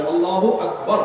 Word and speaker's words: আল্লাহু আকবার: আল্লাহু আকবার উচ্চারণ করার সময় আকবারের রাকে টেনে পড়া ঠিক হবে কিনা? না, ঠিক হবে কেন? তাকবীরের সাথে বলতে হবে আল্লাহু আকবার, আল্লাহু আকবার, এরকম বলা যাবে না।